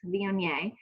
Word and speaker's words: Viognier: It's hard to pronounce, Viognier.